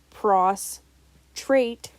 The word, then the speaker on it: prostrate: male bladder and this the term prostrate pronounced pros trait means to be physically weak or exhausted or to lie flat on the ground now speaking about plurals